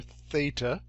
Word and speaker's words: theta: And I've given you a little coaching on how to pronounce it here, theta.